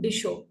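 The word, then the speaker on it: Mdisho: इसको हम पढ़ेंगे बच्चों डिशो। वैसे तो ये आपको मडिशो लगेगा, लेकिन स्वाहिली भाषा में जब भी एम आता है तो उसकी उच्चारण हम दोनों होठों को दाब कर हम कहते हैं।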